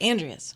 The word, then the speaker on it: Andreas: You know, he goes, it's Andreas. Oh, dang it.